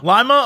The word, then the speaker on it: Lima: even though Paul was in Lima, I don't know how to pronounce that town in Ohio. Lima, Ohio?